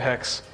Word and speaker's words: haXe: in there called syntax although I should call it sintex because i pronounce it hex and as alan pointed